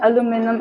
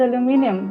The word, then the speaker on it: aluminium: in one of my geology classes, my professor kept saying aluminum, aluminum, and I was like, I call it aluminium.